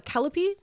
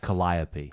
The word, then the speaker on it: calliope: know you're supposed to say this word uh calipi uh it's a variation of a steam organ which was uh in much demand for Fairgrounds and circuses Calliope Calliope is that how you say it wonderful